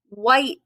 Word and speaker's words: white: starts with the w white the h is silent in that some words you don't